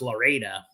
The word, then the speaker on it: Lorida: My going joke was like the next town over is called Lorida, Florida. And it took years for me to run into someone because it's kind of a ghost town who went, it's pronounced Loreda.